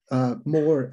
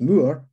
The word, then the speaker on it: Moore: Moore is an Irish name originally, pronounced Moore. And in England, it's anglicized to Moore.